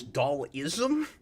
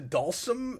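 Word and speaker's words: Dhalsim: I played Street Fighter, I always looked at his name wrong, and I thought his name was Dalism as opposed to Dalsum, like he was a philosophy or something.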